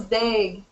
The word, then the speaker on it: Dague: Is that how you say it, Dague? No, it's Dague.